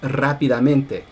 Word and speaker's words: rápidamente: There's technically two stresses on adverbs in Spanish. So, rápido is fast, and then the adverbial form is rápidamente. And the way they analyze it is they say there's main stress on the first syllable and on the ME syllable, even though it's part of the same word.